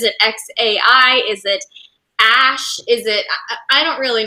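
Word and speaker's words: Æ: letter X and then the AE is pronounced ash a 12 was my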